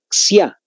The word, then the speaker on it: Xia: La dinastía Xia, con X-I-A. Así se escribe, la dinastía Xia.